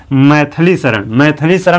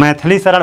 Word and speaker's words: मैथिलीशरण: मैथिली शरण कि तुम मैथिलीशरण भले ही हम कहते हैं लेकिन वह मैथलीशरण नहीं होता है वास्तव में शुद्ध व क्या है मैथिलीशरण है मैथिलीशरण यह अनिधिकृत